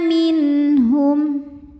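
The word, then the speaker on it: منهم: Maka cara bacanya adalah bunyi nun dibunyikan dengan jelas, jadi bunyinya N dan tidak kita tahan.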